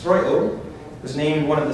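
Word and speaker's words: Strøget: What looks like Stroget, pronounced Stroilo, was named one of the 7 urban wonders of the world.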